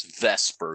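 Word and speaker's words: VSEPR: nobody ever says that you just say Vesper all right and the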